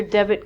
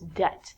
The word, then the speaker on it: debt: to give people money so it's not debit like debit card it's debt next one is doubt